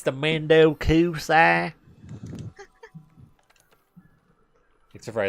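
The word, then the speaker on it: 面倒くさい: Mendo Kusai. Let me say that with more of an American accent next time. Mendo Kusai. It's the Mendo Kusai. Except for I like pronounced all the syllables correctly, and that's not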